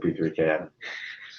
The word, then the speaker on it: P3K: That's pronounced peak. Yes, I know, but I still pronounce it P3K deliberately.